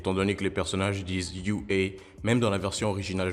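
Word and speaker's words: 雄英: Ces deux premiers kanji au début du nom de l'école sont prononcés UA, ce qui ressemble à UA en anglais.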